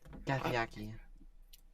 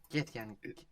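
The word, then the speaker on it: Githyanki: Gathyaki. My dear, I believe you may be pronouncing it wrong if we're talking about the plane of limbo. Yeah, that seems quite likely. Githyan.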